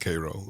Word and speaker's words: Cairo: I am originally from South Georgia, a little small town called Cairo, spelled like Cairo, but pronounced Cairo, known for syrup, believe it or not.